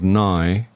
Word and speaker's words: Nighy: And my father always wanted us to be called Nighy, which rhymes with sigh.